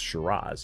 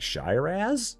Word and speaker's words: Shiraz: Like if you've never heard of like Shiraz, you wouldn't know by looking at it that it's pronounced Shiraz. You'd be like Shyaz.